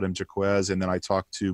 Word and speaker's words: Jacques: calling him last night we've been calling him jack because it sounds lovely in french but um how are you how are you pronouncing his name it's jacquez um i actually i spoke with him last